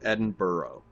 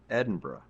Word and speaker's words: Edinburgh: I went to Edinboro that's how I pronounce it Edinboro neden borough but you have to take out the second o sound right so it's just Edinburgh I've actually part Scottish here